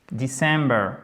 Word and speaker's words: December: revient tout le temps December December alors déjà accent tonique sur la deème syllabe mais la faute qui